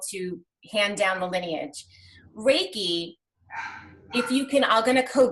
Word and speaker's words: Reiki: it is it's called Reiki so ray like the Sun and ki KI and it's spelled REI ki and it is it's